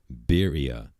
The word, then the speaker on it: birria: Birria.